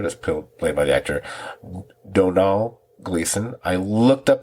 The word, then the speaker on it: Domhnall: It's very similar to saying Donald, but it's not spelled that way.